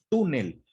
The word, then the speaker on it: túnel: nueve palabra túnel primera porque sabemos que es una palabra grave porque la sílaba tónica se encuentra en la penúltima sílaba en el caso de